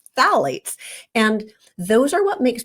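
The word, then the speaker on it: phthalates: disruptor in Plastics is called phalates which is spelled with a silent P so don't ask me to spell it right now but Fates and those are what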